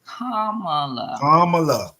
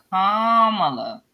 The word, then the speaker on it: Kamala: Her name is Kamala. Kamala.